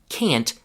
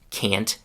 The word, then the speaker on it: can't: In this classic book-like pronunciation, you can clearly hear the short vowel a. The same sound that you hear in cat or fast.